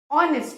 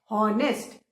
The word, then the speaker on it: honest: हॉनेस्ट, which is wrong, बिल्कुल गलत. HONEST को हम ऑनेस्ट बोलते हैं क्योंकि आवर में भी एच साइलेंट है, कोई साउंड नहीं है, और ऑनेस्ट में भी एच साइलेंट है.